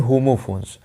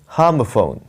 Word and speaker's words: homophones: दोस्तों, मैं आपको बता दूं, ये होमोफोन्स नहीं होता है। इसके दो उच्चारण होते हैं। पहला जो है ये है हार्मोफोन। हार्मोफोन, ये देख रहे हैं, ये अ और आ के बीच वाला साउंड होता है।